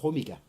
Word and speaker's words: hormiga: Latin, ants will be formigas, or I think in Spanish it's formiga again, or no, hormiga. Yeah.